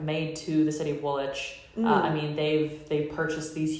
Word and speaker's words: Woolwich: Yeah, it's spelled Woolwich, but it's pronounced Woolwich.